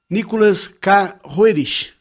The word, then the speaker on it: Nicholas Roerich: Nikolai Constitanovic Herit, como é pronunciado em russo, ou Nicholas Carroerich, como conhecemos no ocidente na grafia inglesa.